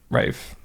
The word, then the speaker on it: Ralph: Oh pronounced Ralph as Rafe Rafe.